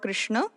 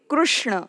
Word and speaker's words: Krishna: is a name of a person or Lord Krishna in Hindi we would pronounce this as K but in kokni this is K so the pronunciation would be Krishna and not Krishna Krishna now let's take examples